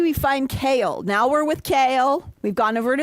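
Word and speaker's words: Chaol: See how I've finally gotten to say his name correctly? Remember how long it took me to say You not kept Chol? saying Kale, yes, I was but saying Chol. Oh, you were saying Chol.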